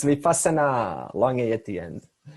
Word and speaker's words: Vipassana: Now in Sanskrit, we also have a term called Vipassana. Vipassana, that's a long A at the end, means right knowledge.